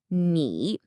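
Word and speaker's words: 你: Okay, this first character is ni, and it's pronounced ni. It simply means you, the informal singular you. Now, the tone here is really important. It's a third tone, and this one can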